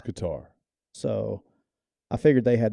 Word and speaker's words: Qatar: my son let me know that I was pronouncing it wrong because I was saying Qatar the whole time, and he wanted me to let me know that it was Qatar. It's Qatar.